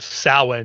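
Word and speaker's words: Samhain: ancient pan Celtic Pagan festival called sa spelled like Sam Hayne and none of that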